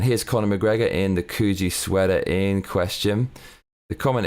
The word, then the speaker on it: Coogi: I always thought it was Coogie.